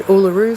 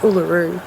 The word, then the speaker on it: Uluru: um that letter so in the word uluru for instance the r is underlined which tells me that the r is just a normal english r so it's just uluru whereas the word for